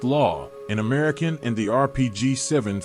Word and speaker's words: LAW: cases there were the M72 law pronounced law an American and the